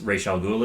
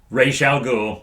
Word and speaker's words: Ra's al Ghul: Yeah, he has to get everyone out of the mansion because Ra's al Ghul is there. That is how it's pronounced. Ra's al Ghul.